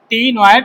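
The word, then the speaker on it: ctenoid: और उसमें usually cycloid are वा टीनोइड, usually cycloid are वार टीनोइड, cycloids are वार टीनोइड, C silent.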